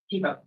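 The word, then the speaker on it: Thibeault: And how's that pronounced? Tebow. Tebow. I did mispronounce it.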